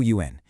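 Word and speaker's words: 鱼: For example, you eat fish, which is pronounced yu, because it sounds just like the word for surplus or extra.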